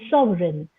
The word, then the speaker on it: Sovereign: then malign and then Sovereign where g is silent you have a question